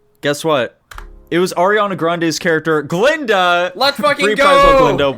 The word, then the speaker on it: Grande: I was hoping one of the names was just going to be like Ariana Grande. Yeah. Or Grand, as she pronounces it.